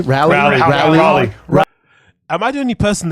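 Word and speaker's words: Raleigh: of RA of rale um North Carolina R rally you can't pronounce rally I don't know why he can't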